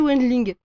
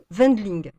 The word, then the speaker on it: Wendling: c'est Wendling, le W se prononce comme un V. Ah, pardon, Wendling.